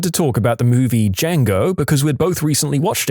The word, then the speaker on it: Django: ago we started to talk about the movie D Jango because we'd both recently watched it then this random girl next to us says it's pronounced Django we both just looked at her first off